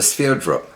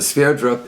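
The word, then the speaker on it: Sverdrup: to denote water transport and it's called a sphere drop which is spelled s ve Rd RUP named after the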